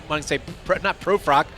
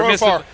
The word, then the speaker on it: Profar: Not Profrock because I'm not even gonna say his name. Whatever. Profar. Profar.